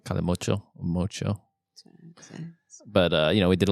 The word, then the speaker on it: Calimocho: can you give us a pronunciation? of that? Calimocho. Calimocho.